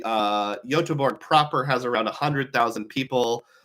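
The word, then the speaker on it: Göteborg: Sweden which is pronounced yorg it's one of those towns where they have an English spelling and a Swedish spelling so I was told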